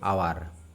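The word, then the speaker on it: hour: আওয়ার। ঠিক আছে? এখানে আওয়ারের এইচটা উচ্চারণ কিন্তু হয়নি।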